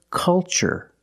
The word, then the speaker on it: culture: it's the first word culture and the second word cultural also remember the first syllable is a short u like cup and up uh uh make a relaxed sound culture and cultural Let's